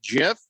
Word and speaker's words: GIF: with with presentation that it's pronounced jeff listen um steve uh